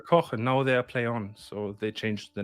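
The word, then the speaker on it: Plaion: Is it Plyon or Playon? Play on, play on.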